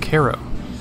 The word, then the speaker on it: Cairo: Our trip started by grabbing lunch in the cute downtown area of Cairo. It's actually spelled like Cairo, the Egyptian city, but pronounced differently.